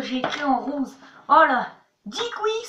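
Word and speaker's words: díky: Dikui, ça s'écrit DQJ. Mais attention, si vous dites DQJ, les Tchèques, ils vont faire comme ça. Attention, ça ne se prononce pas du tout comme ça s'écrit. Ça se dit dikui.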